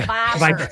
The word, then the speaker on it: Viper: Viper. We don't have any R's. We just go, Viper. We just go Down here. Viper. and then Creek, so like CREEK, and then just band, yeah. Viper Creek Band.